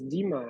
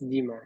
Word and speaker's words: Dima: nice to meet you my name is Dima it's easy to pronounce Dima just demon okay let's